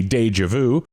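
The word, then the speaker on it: déjà vu: vu fiance and rendezvous of course pronounced properly that would be deja vu and ron dezvous so i took french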